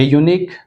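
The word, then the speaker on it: unique: ए यूनिक, एन यूनिक, द यूनिक, यूनिक, फिर से यूनिक, यू Y, right, Y का pronunciation आवाज़ आ रहा तो ए यूनिक।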